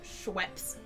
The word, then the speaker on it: Schweppes: Pronounced Schweppes. I like Schweppes. I I prefer the drink- Schweppes. I drink my Schweppes and then I go to Schweppy. My Schweppy helped me go to Schweppy. It's pronounced Schweppes.